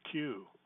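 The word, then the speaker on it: CUE: claim I work for Q but that would just be a joke because Center for urban education C Yui we pronounce that Q so but I'm not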